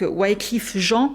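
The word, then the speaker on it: Wyclef Jean: Vous m'avez dit ça se prononce en français du coup c'est des haïtiens. Donc Wliff Jean, ça fait trop bizarre.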